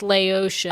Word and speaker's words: Laotian: That is, it's like instead of Vietnamese or they're Thai, Laotian. it's Laotian. Oh. Yes. Yeah, like Haitian or whatever. It's just like how you say it. I was thinking Laoca.